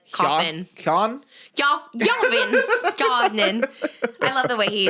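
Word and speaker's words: Keoghan: person Barry kogan I've you probably don't even pronounce the G it's probably like cofin I love the way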